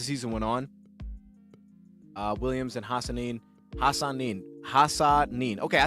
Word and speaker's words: Hassanin: Williams and Hassanin. Okay, I said it right. I always, if it's hard to pronounce, I cut off the name to two half.